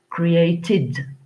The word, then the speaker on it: created: d'herbes aller te create alors le ed se prononcent id created created c'est la correction automatique